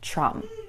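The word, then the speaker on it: Tchrum: If I had to spell it, it would be T-C-H-R-U-M. And it's best to pronounce it with as much spit coming out of your mouth as possible, ideally.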